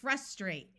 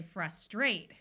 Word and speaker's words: frustrate: long o sound also we have the word frustrate in American English with a short u sound my understanding is that the British say frustrate where the second syllable is accented or said a little louder so why does knowing